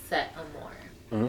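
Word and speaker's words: Setteamoure: out my name okay so s e t t e a m o u r e that is set am more yeah you know set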